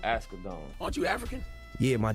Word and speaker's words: Asghedom: Asghedom.